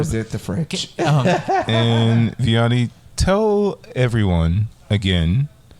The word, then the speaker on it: Vianney: Tick Tock it's um Vianney and Rob um should I spell that yeah yes v-i-a-n-n-e-y and Rob but is it and like the little apostrophe my name is French not Spanish um and